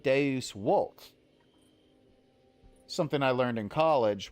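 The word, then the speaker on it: Deus vult: The letter V actually had a W sound. So this is pronounced Deus Volt.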